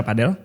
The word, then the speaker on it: padel: Cuma gua pernah nanya ke orang Spanyolnya cara baca itu olahraga padel. Padel. Padel kan? Iya. D-nya jadi kayak D padel.